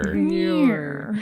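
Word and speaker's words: Muir: I'm just laughing because I was sure I was going to mispronounce his name mirror I'll just out myself yes John Mir let's all say it Mir there we go that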